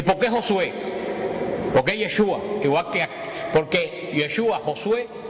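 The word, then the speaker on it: ישוע: es Jesús pero como en hebreo no se pronuncia Jesús en hebreo se pronuncia yeshua yeshua Y ustedes saben Cuál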